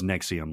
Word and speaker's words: NXIVM: this is the uh nexium cult it's it's stylized as nxivm but it's pronounced as nexium like the acid production purple pill yeah yeah um okay